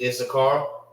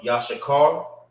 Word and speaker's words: Issachar: name of the brother, which is Issachar or Yashakar is how you say it in Hebrew.